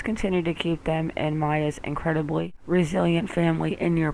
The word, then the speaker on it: Maya: luciantes by the way maya is pronounced maya yeah i'm starting to